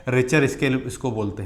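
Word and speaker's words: Richter: तो हिंदी में तो हम इसको बोलते हैं रिटर, लेकिन अगर इंग्लिश का प्रोनाउंसिएशन देखेंगे तो ये हो जाता है रिचर स्केल।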